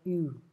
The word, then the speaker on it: ewe: Nah, bukan ewe ya, ewe. Bacanya ewe.